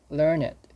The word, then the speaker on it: learned: an intellectual elite learn learn it learn it or learned let's see when used as an adjective it should be pronounced learn it pronounced learn it for meaning yes a learned person has gained a